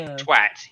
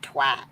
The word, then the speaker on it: twat: When you say twat, you're supposed to. It's like a emphasis on the T's, especially the last one.